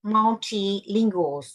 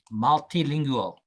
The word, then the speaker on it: multilingual: Uh or in our case multilingual multilingual multilingual multi- multi-ingual yes you have to say you have to pronounce that G multilingual multilingual yes